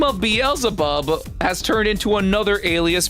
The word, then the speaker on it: Beelzebub: Beelzebub, aka Beelzebub, aka Beelzebul. The name has so many pronunciations.